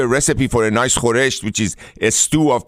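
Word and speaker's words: خورشت: And you said the word there, was it khoresh? Is that what Khoresht. Okay. Khoresht. Yeah.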